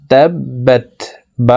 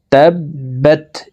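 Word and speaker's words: تَبَّتْ: প্রিয় দর্শক আমি ভেঙ্গে ভেঙ্গে শব্দের শব্দে বলে দিচ্ছি দেখুন তাবা উপরে তাসতদ আছে তাসতদলা হারফ দুইবার উচ্চারণ করিয়া পড়িতে হয় একবার পূর্বের হারকতের সঙ্গে আরেকবার নিজ হারকতের উচ্চারণ হবে তাবা এই বাবার জজমলা তাকে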